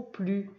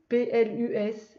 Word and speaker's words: plus: fois le même mot, P-L-U-S et là P-L-U-S. Là, il se prononce plus et là, il se prononce plus. Donc pour savoir le prononcer, ça dépend à quel endroit il est dans la phrase.